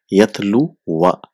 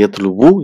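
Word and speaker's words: يَتْلُوَ: the mansub will be yatlu wa, so it's pronounced yatlu wa. So here we don't say yatlu wu, you just say yatlu in marfu, whereas in mansub it will be yatlu wa.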